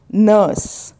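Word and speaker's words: nurse: ध्वनि आपको देनी है नर्स नर्स are silent plumber यहां पर बी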